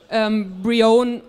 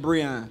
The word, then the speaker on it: Brion: And so we decided to just translate it into French and called you Brion Rouge. Rouge. No. Brion Rouge. And that was what Christian just wanted to tell you. No, it's pronounced Brian.